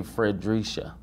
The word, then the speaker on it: Fredrisha: I've noticed all your posts, they all say Fredrisha. Did I pronounce that right?